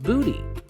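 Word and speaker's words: bute: Well, it actually comes from an old Germanic word spelled B-U-T-E, but it's pronounced booty.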